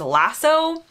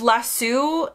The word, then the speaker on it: lasso: say that I think the pronunciation of the word as lasso just sounds much better and much more Cowboy to me whereas lassu sounds too nice and proper like it's like if